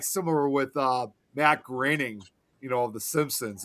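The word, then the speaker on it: Groening: I was It's kind of like similar with uh Matt Graining, you know, of the Simpsons. And a lot of people always thought his last name was supposed to be pronounced Matt Grooning.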